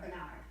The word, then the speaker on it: Barnard: Is it Barnard or Bernard? Any way you say is okay with me, but I pronounce it Barnard.